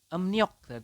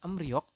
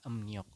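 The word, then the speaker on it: 음력: sini juga ada nih ini dibacanya adalah emniok bukan em rok tetapi anda membacanya adalah emniok Oke sampai sini jelas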